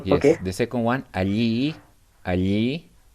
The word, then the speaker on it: allí: The second one, allí.